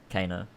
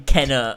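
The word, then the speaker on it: Kena: Kana Bridge of Spirits. Oh, no, he can't pronounce it right. He can't pronounce it right. Oh, fuck me. What's that? Fucking Kenna. Oh, yeah. There you go.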